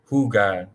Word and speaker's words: jugar: J is pronounced as H. So the H, the letter H itself is silent, but when the J sound, the J letter is used in Spanish, it becomes an H sound.